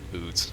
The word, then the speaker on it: UDES: Alright, it's spelled oooods. We're calling it the oooods, because that's what it is. It's an oooods.